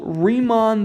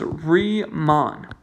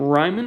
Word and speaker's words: Riemann: we're doing here this strategy these are called riemann sums and riemann is a dude one of the most famous mathematicians of all time the way to pronounce his name is re mon if you pronounce his name ryman i will